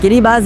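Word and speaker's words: Kiribati: वो है किरी बाज उसका प्रोनाउंस किरी बाज है किरी बाज एक कंट्री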